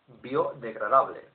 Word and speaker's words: biodegradable: Biodegradable, where the I has been adapted in accordance with the rule of Spanish pronunciation, which states that the I must be given as the sound E. Biodegradable.